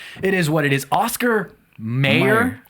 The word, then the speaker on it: Oscar Mayer: pronounce it too because this one is also pronunciation apparently meyer for some yeah meyer oscar meyer spelled e y e r yeah exactly well we're wrong here it's oscar mayer and it's this episode